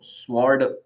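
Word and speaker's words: sword: बोलते हैं अब तलवार जो होती है उसको स्वर्ड ऐसे लिखा गया है पर बोलेंग इसको प्रोनंसिएशन रियल में सड है सड डब्लू साइलेंट है वैसे ही थम जो है थम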